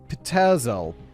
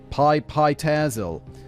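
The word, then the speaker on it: Pitezel: Frank was on the trail of the three missing children of Benjamin Petzel. Pi Pyzel. Thanks for the pronunciation, guy, David.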